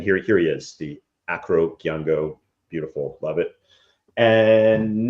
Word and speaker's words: Acro: The nice Acro, not Arco. See, I said it right this time.